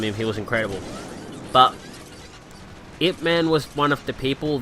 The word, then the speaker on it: Ip Man: And it is actually pronounced Ip Man, for those that are wondering.